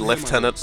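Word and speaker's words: lieutenant: are going to hear the word leftenant a lot head out the upper level and continue through the plaza the bunker is beyond that I I realize that that's technically the the appropriate um pronunciation for for the the accent that they're going for but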